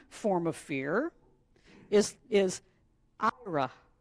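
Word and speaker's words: יראה: The second form of fear is is Ira. It's y I r ah but it's pronounced yra.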